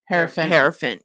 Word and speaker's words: Hierophant: Hierophant.